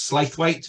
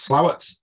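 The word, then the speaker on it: Slaithwaite: slightly larger settlement Court it looks like it's pronounced as slave weight but it's actually pronounced slower and that's near Huddersfield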